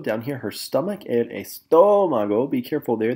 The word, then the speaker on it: estómago: Here we are pointing to her chest, el pecho, down here, her stomach, el estómago. Be careful there, there's an accent on the O, so estómago.